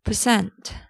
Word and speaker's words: percent: It's not percent, it's percent. Not percent, it's percent. The stress will be in the second part, cent, percent, percent, percent.